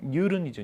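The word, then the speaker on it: Newton: 단위는 뭘 쓰냐면 힘의 단위는 뉴턴을 쓰죠. 뉴턴이라고 쓸 때는 뉴턴이라고 써도 우리가 이제 발음상으로는 이제 글로벌하게 얘기해야 돼요. 뉴턴. 원래 정확하면 뉴른이죠.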